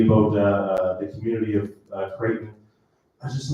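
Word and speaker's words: Crichton: didn't know existed called Kraton Avenue in Dartmouth. Uh when you look at it it seems like it says crit but it's pronounced Kraton.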